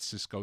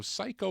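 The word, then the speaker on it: Psyco: Would you say that's Psycho? Would you pronounce that? Psycho or Cisco? I don't know. Not Cisco. Psycho Records.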